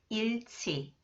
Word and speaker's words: 잃지: 지읒 comes after the final consonant 리을, 히읗. It is pronounced 츠 sound. 잃지.